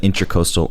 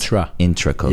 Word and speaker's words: Intracoastal: I found out that it wasn't intercoastal. It's the intra. It's intracoastal. That's actually how it's spelled. Interesting. It's like kind of slang to do it intercoastal, but people still spell it intercoastal. I don't know. But it's intracoastal.